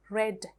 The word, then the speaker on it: read: pronounce it as read red red read is the base form red red the past form and the past participle form are pronounced as red but it is spelled